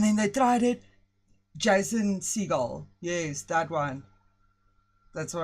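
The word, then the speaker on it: Segel: Jason Seagull. Yes, that one. That's what I said. Seagull. Seagull. Seagull. Okay. Is that how you pronounce it?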